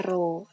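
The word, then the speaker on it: ρ: wes nyampe tapi ini bacanya row ini keterangannya semua di sini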